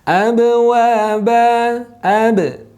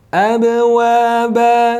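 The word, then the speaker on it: أَبْوَابًا: Untuk hukum qalqalah, yaitu hukum memantulkan bacaan ketika sukun ataupun yang disukunkan. Abwaba, abwaba. Nah, bacanya tidak abwaba tapi abwaba. Baik, demikian untuk penjelasan singkat kaidah tajwid menggunakan tajwid berwarna pada Al-Quran Hafazan.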